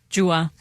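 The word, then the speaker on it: Gjuha: Like, do you know Dua Lipa? Yes, I do. Yeah. Yes, I do. Like, how you pronounce her first name, Jua.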